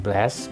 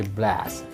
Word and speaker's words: blast: Ya, pronunciation-nya bukan blast, bukan blaze, tapi blast. Antara huruf E dan A, ambil tengah-tengah A, blast. Itu huruf vokalnya ya, blast.